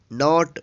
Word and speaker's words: knot: के है, इसलिए के यहाँ पे साइलेंट है। तो आइए आगे देखते हैं। KNOT, नॉट।